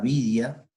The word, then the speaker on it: Widia: Metales duros, o normalmente también llamada vidia, widia se escribe, ¿sí?